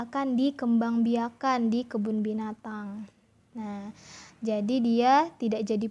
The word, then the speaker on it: binatang: Nah, kalau kita gabung bacanya jadi eng ya. Contoh binatang, binatang. Nah, seperti itu ya. Jadi ada dengungnya di belakang.